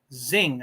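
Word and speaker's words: Xing: and there was a man named Zing I think that's how you say his name x-i-n-g and it was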